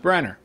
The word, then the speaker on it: Branagh: you pronounced his name branner i didn't know that but it's spelled branagh it's pronounced branner now you know he